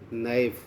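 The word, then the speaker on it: knife: फिर है नाइफ, यहाँ के, नाइफ मन चाकू, यहाँ के साइलेंट है।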